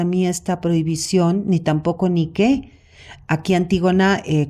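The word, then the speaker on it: Díke: esta prohibición ni tampoco ni qué a antígona eh cuando dice ni qu eh Ni que con k y con acento en la se refiere a la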